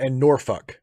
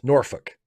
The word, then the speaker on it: Norfolk: Um, Jason Balmer is a Balmer is an acceptable pronunciation of Baltimore. Yes, Balmer. And Norfolk. Yes, Norfolk.